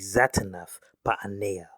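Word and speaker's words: Zaphnath-Paaneah: The correct pronunciation of Joseph's Egyptian name would be Zatannath Ba'anea.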